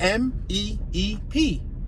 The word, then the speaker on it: Meep: You gotta pronunciate the M-E-E-P. Like meep. You get it? Meep. Like if you beeping a horn.